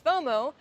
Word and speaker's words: FOMO: And when you pronounce FOMO, you pronounce it as a word itself.